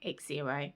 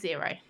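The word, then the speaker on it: Xero: So I I signed up for zero which is spelled with an X. I was pronouncing it X0 but my husband was like no it's pronounced zero.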